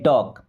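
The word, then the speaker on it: talk: Okay, I will टॉक टू यू, I means होता है मैं, देखिए विल तो हेल्पिंग वर्ब टॉक, अब यहाँ पे एल साइलेंट, ओके, टाल्क नहीं टॉक।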